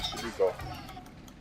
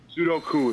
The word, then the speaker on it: Sudoku: Get your get your three-year-old to do sudo. Sudoku is actually how you say it.